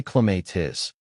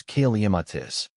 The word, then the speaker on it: Clematis: I used to say cleatis, but then a gardening enthusiast friend gently corrected me. The most common pronunciation is kaiamatis. You emphasize that first syllable and the middle syllable